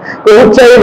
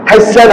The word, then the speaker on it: হুসাইন: হুসাইন হুসাইন, হাইসান হাইসান হাইসান, আচ্ছা নামটা উচ্চারণ করা, এটা আদব হয়েছে না বেয়াদব হয়েছে?